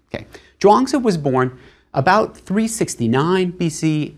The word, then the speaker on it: Zhuangzi: It's spelled in more recent books as Zhuang, and then that Zi at the end. In earlier transcriptions, it'll be spelled Chuang, but it's always Zhuangzi rather than a CH sound.